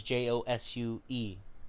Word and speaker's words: Josue: or if you want to call me Josue, that is Josue. So don't mess that up. Or if you want to pronounce it like Ho, so Hoe, and then Sway, you know what I mean?